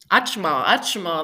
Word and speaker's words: Achma: Achma, that's how you say it in Cupeño.